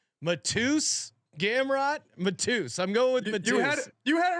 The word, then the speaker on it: Mateusz: I'm going with Mateusz. You had it right the first time again, damn. Mateusz.